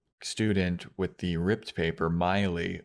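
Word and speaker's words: Maile: with the ripped paper Miley which is spelled m a i l e mhm uh which was a bit of a disagreement between Hannah and Fran because Fran pronounces it male and she's like she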